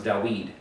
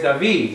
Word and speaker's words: David: The Vav will turn into a W. Because they're using the scholarly opinion that the Vav is Wa. Wow. Wow. It doesn't work so much. So David becomes Dawid. Really? You really think his name is Dawid? Where the weed at? No. Where's David, right?